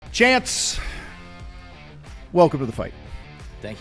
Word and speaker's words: Chans: Because it's, guys, if you don't know Chance, it's chance, like take a chance.